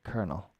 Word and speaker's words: colonel: uh let me put it in c-o-l o n colonel okay kernel Coronel it's it's pretty much the same kernel Coronel in Spanish that is I haven't looked it up in French okay a difficult one it has nothing to do it has nothing got to do with the spelling as often is the